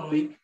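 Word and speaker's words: oleic: তারপর হচ্ছে অলিক অ্যাসিড, মেনলি অলিক উচ্চারণটা হবে অলিক অ্যাসিড, তারপর হচ্ছে লিনোলিক অ্যাসিড।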